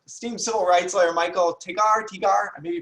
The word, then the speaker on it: Tigar: It's actually pronounced Tiger, but Tiger.